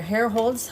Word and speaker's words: Herrholz: So we are Herrholz Hub Rolling with Cam and Cole. And as my hubby here explains it best, hair Hair like the hair on your head, and holes like holes in the ground.